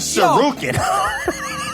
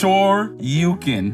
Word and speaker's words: Shoryuken: So how do you say it? It's Shoryuken. What did I say?